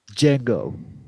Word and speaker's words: Django: ain't no like yeah django i don't does it i never seen jack he probably got it popping and he was definitely he did he looked the d is silent all right he paused